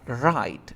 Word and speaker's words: write: Recuerda que la palabra escribir se pronuncia write. No existe write. No es W, sino la R.